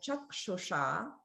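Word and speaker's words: चक्षुषा: Whereas in the word chakshusha, that S is like a sh sound, but it's the retroflex version. So that's like the Vishnu S.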